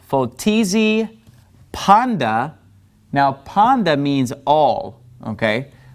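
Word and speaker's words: πάντα: The letter taf is pronounced with a T sound, a T sound, but when it has ni in front of it, it becomes a D sound, like dog in English, all right? So this word is actually pronounced panda, all right?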